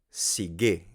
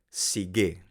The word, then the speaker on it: sige: Sigue. Sigue. No se pronuncia sigue como en español, se pronuncia sigue, con el acento en la última sílaba.